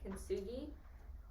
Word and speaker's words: kintsugi: So basically, what she was doing in there, with the whole fixing thing, that's a Japanese art called kintsugi. Pretty sure that's how you pronounce it.